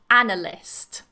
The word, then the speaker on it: analyst: to watch out for and the person is an analyst so again the stress is on the first syllable analyst analyst next up we have